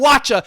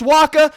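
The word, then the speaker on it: Wacha: H I'm calling him watcha and he's lucky I don't call him waa okay the English language is funny and fickle like that if it's pronounced Waka I know but guess what don't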